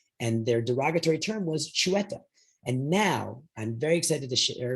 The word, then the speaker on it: chueta: This is how you say the word chueta, which is Catalan.